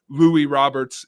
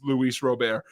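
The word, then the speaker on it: Luis Robert: have a center fielder you would swear his name is Louie Roberts it's Luis robar so you know that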